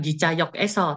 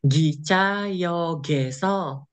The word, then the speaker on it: 기차역에서: Mas Galang bukan Gicayok Eso, tapi macam Gicayogeso.